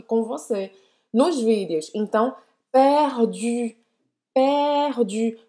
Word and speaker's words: perdu: Então, perdu. Perdu. Porque muitas vezes é a vergonha de achar que é meio ridículo fazer esse biquinho que faz as pessoas não pronunciarem bem o francês.